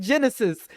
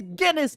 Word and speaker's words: Guinness: It's Guinness, like the beer, like the Book of World Records.